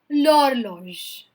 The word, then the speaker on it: l'horloge: Now this also starts with a vowel H. So we will pronounce it as l'horloge. बोलिए मेरे साथ l'horloge.